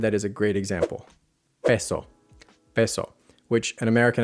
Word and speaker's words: peso: So, in Spanish, one vowel always equals one vowel sound. Here's a word that is a great example. Peso. Peso, which an American accent will pronounce as peso.